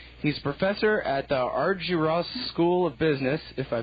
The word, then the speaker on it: Argyros: He's a professor at the Argyros School of Business, if I pronounce that right.